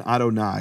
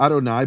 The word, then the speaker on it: Adonai: you would expect for Adonai but one of the important things here is that the first letter of Adonai is silent.